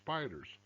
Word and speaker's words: SPDR: p 500 they're called s p depository receipts spdrs mispronounced spiders to slay the spider